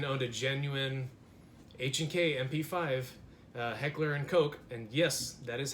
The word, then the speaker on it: Heckler & Koch: to genuine HK mp5 heckler and koch and yes that is how they say it you can go on their website and see it's pronounced coke yeah I'm gonna get